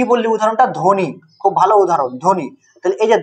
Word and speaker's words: ধ্বনি: করি না সরস্বতি মানে অল্প বটা উচ্চারণ হচ্ছে আর জ ফলাটাও কোন